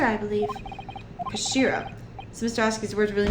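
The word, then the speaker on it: 頭: It's written in head in Japanese, but it's pronounced Kashira, I believe. Kashira.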